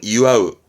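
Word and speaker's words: 祝う: 발음은 이와우, 이와우 말 그대로 축하한다.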